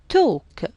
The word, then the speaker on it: talk: Talk, silent L.